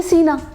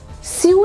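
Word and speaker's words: sew: नहीं इससे मिलताजुलता बना दिया एस ई डब्ल्यू यानी कि सीना। मगर इसका प्रोनंसिएशन 99.9% लोग गलत बोलते हैं। एस ई डब्ल्यू स्यू नहीं होता।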